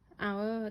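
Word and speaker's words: hour: ๆ กัน นะ คะ คำ แรก ค่ะ เอา Our ที่ แปล ว่า ชั่วโมง แล้ว ก็ Our ที่ แปล ว่า พวก เรา นะ คะ เขียน ต่าง กัน อ่าน เหมือน กัน ทำไม ต่าง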